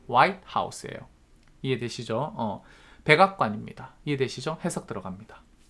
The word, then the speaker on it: White House: the White House가 한 단어고요. 여기 강세 찍어 주셔야 돼. White House가 아니라 White House예요.